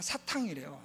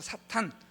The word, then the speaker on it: 사탄: 사탄 발음 잘하셔야 돼요. 저 이거 그래서 자주면 저는 사단이라는 말을 쓰는데 어떤 분은 자꾸만 사탕이래요. 아 사탕이 아니고 사탄 사탄이 와서 사단이 와서이 말씀을 즉시 빼앗아 버리는 거예요.